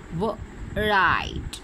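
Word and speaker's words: write: Right. Okay, W is silent here.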